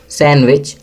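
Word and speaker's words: sandwich: Eight, सैंडविच, D silent है।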